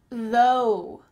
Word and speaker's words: though: Though, though, kind of sounds like a W at the end of this word.